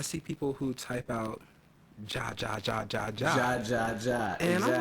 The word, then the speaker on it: jajaja: J in the Spanish language sounds like a H in the English language. So they're still saying ha ha ha, but phonetically for them it's JaJaJa.